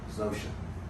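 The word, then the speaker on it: Zosia: Her nickname, her official familiar nickname is Zosha. Yeah. Z-O-S-I-A. Zosha.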